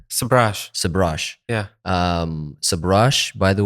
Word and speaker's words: Sabrage: Sabrage.